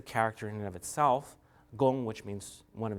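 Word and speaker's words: 功: gong, this is pronounced gong, and so the character is pronounced gong, which means result. It's gong as in kung fu.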